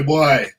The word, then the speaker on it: Bwoy: the name so yeah we don't say boy we say boy boy what a second why because if you if you don't say it right then you don't sound rude enough and we're rude with